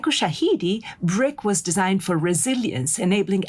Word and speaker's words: BRCK: Juliana carried this vision forward by designing Brick, which is spelled BRCK, a rugged, portable Wi-Fi